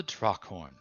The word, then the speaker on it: Draakhorn: How do you pronounce that, guys? Dragonhorn? Draakhorn? The Draakhorn.